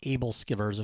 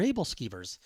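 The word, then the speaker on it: æbleskiver: I butchered the name I think I called it like AEL skivers or something and my wife says oh those are able skivers so okay so we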